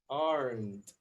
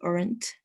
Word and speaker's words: aren't: They aren't. Okay. We're still pronouncing the E. So let's work on that, okay? Remember, no E. Is aren't. Aren't.